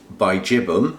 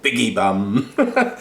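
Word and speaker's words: bigibbum: that's a hybrid between Bijibum, I'll say it properly, and then I'll say it how I like to say it, Biggie Bum, and that's been crossed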